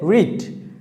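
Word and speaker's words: read: তারপর হচ্ছে রিড। রিড মানে কি? পড়া। আই রিড এ নোবেল, আমি একটি উপন্যাস পড়ি। আই রেড, এখানে একটু খেয়াল রাখতে হবে, জাস্ট স্পেলিং কিন্তু একই, বাট আমাদের উচ্চারণটা হবে রেড।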